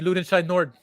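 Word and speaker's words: Lüdenscheid-Nord: that my family lives and what would be loot inside nord that's right you said it right correct you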